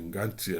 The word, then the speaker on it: Ngantie: Des Ngantie, là je le prononce vraiment comme on devrait le prononcer, pas en français, mais dans la langue même de Teke.